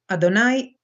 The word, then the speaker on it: Adonai: it must be noted that God's name is pronounced Adonai both by the Hebrews and by the Latins